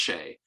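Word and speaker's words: Hsieh: T S A I E H, I think, but pronounced Shay.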